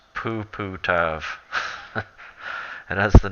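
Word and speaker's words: puputov: That is pronounced Puputav.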